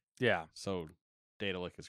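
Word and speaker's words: Daedalic: Scrolls are oh um it's like Daedric yeah so data lick is correct yeah well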